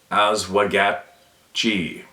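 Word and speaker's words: Oswegatchie: the middle branch of the oswegatchi River that's pronounced as wagat G LOL last month a few friends and I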